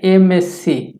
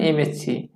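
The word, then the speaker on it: MA: এটার নিয়মটা কি, এটার নিয়মটা হচ্ছে যে সংক্ষিপ্ত শব্দের শুরুতে কনসোনেন্ট থাকলেও তার উচ্চারণ যদি ভাওয়েলের মতো হয় তাহলে তার পূর্বে অ্যান বসে, যেমন এমএসসি উচ্চারণ করতে গিয়ে ভাওয়াল চলে আসছে, একইভাবে এম এ উচ্চারণ করতে গিয়ে ভাওয়াল চলে আসছে, এই জন্য আমরা এই দুই জায়গাতেই অ্যান দিতে পারবো।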